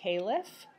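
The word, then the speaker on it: caliph: become the next uh khif uh which was a word that meant successor or Deputy you might sometimes also hear it pronounced caleff the man who became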